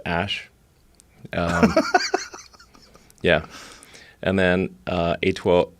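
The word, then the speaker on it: Æ: x um and then the a e is like pronounced ash yeah and then uh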